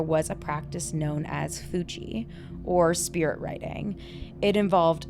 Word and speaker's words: Fuji: F-U-J-I. Oh.